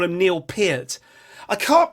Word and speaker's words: Peart: want to call him Neil Peart, and then you look at the spelling and you think, well, actually it's kind of like heart but with a P, Neil Peart, and then you'll hear someone